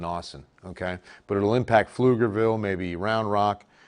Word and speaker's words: Pflugerville: okay but it'll impact pflugerville maybe round rock and by the way that's pronounced flugerville every time i see